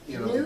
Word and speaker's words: noob: They for new people that come like just starting to play, Noob? the games and stuff. How do They you call spell it it? noob. N-O-O-B. Almost like boob, but noob.